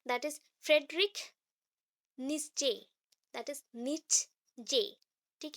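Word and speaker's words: Nietzsche: Next और तीन है, that is Frederick नित्जे, that is नित्जे, ठीक है। यहाँ पे ZCHE है, तो CHE का उतना प्रोनाउंसिएशन नहीं होगा, ई प्रोनाउंसिएशन होगा, इसलिए निश्चे, निच जे, ठीक है, निट्जे, फ्रेडरिक निट्जे।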